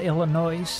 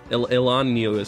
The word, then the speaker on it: Illinois: Chicago yeah they're everywhere Illinois yeah Illinois that's not how you say it Elan oh my one time